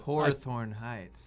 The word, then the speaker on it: Hawthorne Heights: That's how you pronounce it. Hawthorne Heights.